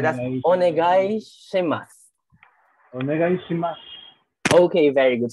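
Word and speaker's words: お願いします: So this is right as onegai shimasu. Onegai shimasu. Okay, very good. So let's try again. The last one you don't pronounce. No, we don't pronounce the su. So it becomes a silent.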